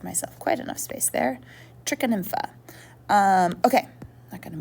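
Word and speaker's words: Trichonympha: inside of the termite's gut which is called trica nympha it's spelled t-r-i -c-h-o-n-y-m p h a i didn't give myself quite enough space there trichon infa um okay I'm not going to move that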